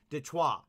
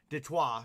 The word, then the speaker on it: Detroit: this up too so detroit is actually a french word so it's actually supposed to be pronounced de choir so it is the detroit uh lions right so detroit we obviously all say detroit now but it is